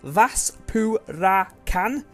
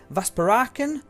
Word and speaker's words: Vaspurakan: So the way it should be pronounced is Vaspurakan. So Vaspurakan or Vaspurakan. One of those two things, just depends on where you put the emphasis, I suppose.